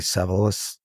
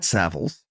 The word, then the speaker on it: Savills: So you started at the bottom, quote unquote, at your company, which the name I always pronounced incorrectly, Savills. Did I get it right? Savills. Savills. Yeah.